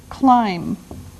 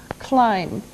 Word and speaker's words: climb: can use now the first verb is climb climb now it doesn't sound like it looks now if this letter B is silent climb okay we climb a